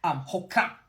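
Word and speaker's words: hoqra': Hoka, hoka. To me, that reminded me of the word okra.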